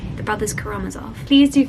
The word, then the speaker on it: Karamazov: get this up I've always heard this as karamatzov I've heard it said aloud I watched the